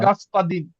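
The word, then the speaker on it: господин: আ উচ্চারণ হবে, গাছপাদিন। আমি আচ্ছা, বলছি যে লাস্টে দেখেন দিনের উপরে জোর পড়ছে, Gaspadin.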